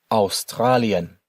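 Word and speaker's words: Australien: Australian. Remember the pronunciations here for the letters A and U together.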